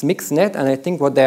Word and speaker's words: MXNet: called mixing it so even though it's spelled MX I think they said in the paper you safe to say mix so it's mixed net and I think what